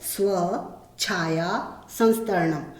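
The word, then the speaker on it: स्वच्छायासंस्तरणम्: बच्चे अक्सर इसका उच्चारण करने में गलती करते हैं, उसको तोड़ के बोलना है स्व छाया संस्तरणम।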